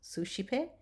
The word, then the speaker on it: suscipe: When the S and the C are together, we are going to pronounce it sh, as in shine. And when it falls before an E, I, Y, or the ligatures again, AE or OE. So here's some examples.